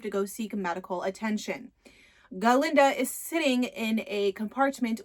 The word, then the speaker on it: Galinda: professor at shiz University he cannot pronounce her name galinda so he says Glinda and galinda is like that's not my name but Dr Dillman goes